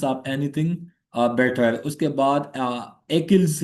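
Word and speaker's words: Achilles: anything better उसके बाद एकिल्स heal कुछ लोग इसको एचिल्स हील भी कहते हैं I will pronounce it एकिल्स heal so one weak point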